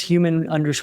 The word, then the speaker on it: HUMN: It's human project on Instagram. So, uh, oh, and human is spelled hu mn. We took out the a.